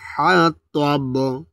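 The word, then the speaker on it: حَطَب: আবার সায়াসলা নারং যাতা লাহাবি ওয়াম রাআতুহু হাম্মালাতাল হাতাব। তাল হাতব, এখানে অনেকে তাব বলে, তাব বলা যাবে না, এখানে ত উচ্চারণ রয়েছে, ত গোল করে দেবে, ত জুবার আগাতে মোটাভাবে উচ্চারণ হবে, ত ত, ঠিক আছে।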